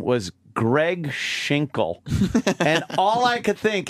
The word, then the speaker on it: Schinkel: It's spelled S-C-H-I-N-K-L-E. No, I'm Cregg Schinkel. I hate how Cregg Schinkel's voice drops out just at the end of his name. What? You can't hear that L properly.